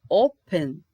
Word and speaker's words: open: Open, também tenho duas sílabas. Open. Como o O é mais forte, não é o pen, eu não posso repetir esse N.